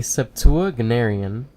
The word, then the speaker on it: septuagenarian: A septuagenarian.